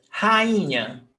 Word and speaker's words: rainha: Mas, por exemplo, rainha, nós temos ra-in-nha. If the hiato is followed by NH, dígrafo, NH, it doesn't have the accent mark. That's why rainha, moinho, that's why these